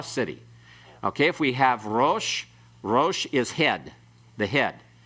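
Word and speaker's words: רֹאשׁ: Okay, so pronounce this one, rosh and harosh.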